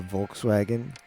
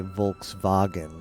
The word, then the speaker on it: Volkswagen: Volkswagen do you say Volkswagen right yeah everybody in the U.S calls it Volkswagen but yeah in German it's called full because the the V